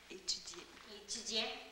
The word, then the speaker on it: Étudiant: Étudiant. On ne prononce pas le T.